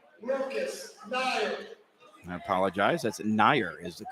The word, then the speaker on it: Nair: That's Nair is the correct pronunciation.